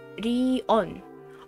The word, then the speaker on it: Rion: is written as Rigyo, but pronounced like Rion.